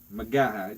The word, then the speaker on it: McGaha: Yes. Magaha. Just like it is spelled.